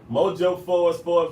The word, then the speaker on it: Mojo Forbes: It's spelled like it sounds. It's not Ebonics. You know what I'm saying? I want you to be able to go search that. Mojo Forbes like the magazine.